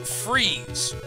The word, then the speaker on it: Fries: have a town called it's pronounced freeze but it's spelled fries f-r-i-e-s when i was a